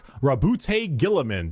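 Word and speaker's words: Roboute Guilliman: Primark Rabboute Gillamin.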